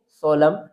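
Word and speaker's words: solemn: इसको रीड करेंगे सोलम।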